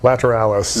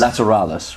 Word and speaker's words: Lateralus: this new lp how do you say it lateralus is that right lateralis lateralis right okay so that's how it's pronounced they were just better at doing the